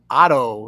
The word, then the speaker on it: OTTTO: now with Mr Ty Trujillo from the band Otto is that the right pronunciation yeah that's correct what's up how you